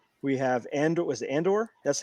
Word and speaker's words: Andor: Was it Andor? That's how you pronounce it.